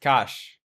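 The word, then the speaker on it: cache: It's pronounced cash.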